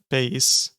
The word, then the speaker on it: bass: I'm rubbing on a double bass. Almost said bass, like the fish. Nope. Bass. That's how you pronounce that.